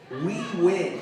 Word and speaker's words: Huynh: my my name but my Asian name my real name is spelled h-u-y it's pronounced we we win it's my real name